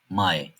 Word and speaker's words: Mai: A harfinden sonra i harfi geliyorsa "ay" gibi okunur. Örneğin "Mai , Hai".